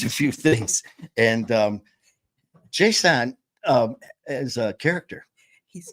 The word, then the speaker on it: J'Son: his name Jon hunt Jon hunt apostrophe s o n Jon not Jason Jon say his name